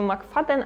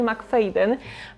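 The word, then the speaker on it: McFadden: thriller Fridy m faden ostatnio czytałam źle te nazwisko A właśnie usłyszałam że czyta się mak faden a nie m feen pomoc domowa jest to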